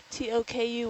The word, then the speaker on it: Toku: But not, are you saying th instead of tuh? No, it's like more like a D. Yeah. Teiru, like Yes. Teiru is saying that when you say her name, It's less like a t and more like a d. It's not so sharp.